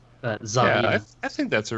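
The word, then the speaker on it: Tsareena: That's the Russian, because it's like a Tsarina, which is like Russian. Because Serena is a bit too much like Serena. Tsarina.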